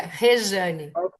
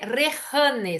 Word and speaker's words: Rejane: Rejane, assim que se pronuncia, Rejane. ¿Cómo? Imagina, meu nome é Rehane, se escreve com Ok, J. Pero em ok, português, a letra J tem sonido de Y. Então, se imagina que é R-E-Y, Rejane.